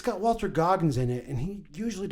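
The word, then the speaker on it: Goggins: his haircut right now oh okay way Walton gogin Walton sorry Walton goggin that's the worst pronunciation I've done this entire goddamn podcast wait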